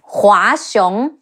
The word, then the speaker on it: Hua Xiong: Hua Xiong, He Wu A, Hua, Xi Yi Ong, Xiong, Hua Xiong, Li Jue, Le Yi